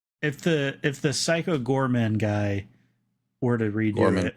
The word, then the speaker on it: Goreman: about he remaking Psycho Gorman, not Goreman. No, Gorman. His name is Gore Man.